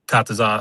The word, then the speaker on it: Katazan: It's Katazan, I believe, correct? Yes, correct. Yes. You actually said it right.